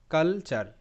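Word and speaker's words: culture: আর আর ই চার কালচার কালচার ওকে তো এখানেও কিন্তু টি ইউ আর ই চার প্যাটার্ন আর এখানে টি চেসে উচ্চারিত সি ইউ এল কাল টি ইউ আর ই চার কালচার কালচার হ্যাঁ এখানে বিশেষ একটা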